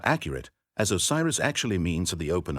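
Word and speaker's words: Wsir: first among them was WJR pronounced assar yasar azer aeru ozar ozer weer user yuz or oer called Osiris by the Greeks historians Plutarch and deodor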